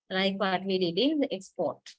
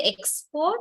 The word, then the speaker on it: export: we say the word do you say export or export export okay yes listen carefully export export second one export export PO is much more prominent right it has a weight than x okay that is the general